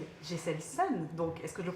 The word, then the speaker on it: Geselson: Jesselson, donc est-ce que je le prononce bien?